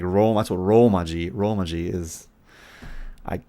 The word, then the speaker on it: romaji: about it that way romaji no it's okay a lot of people don't know that it's not with an n because they think kanji